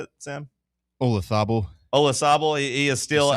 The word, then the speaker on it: Olazabal: Olazabal.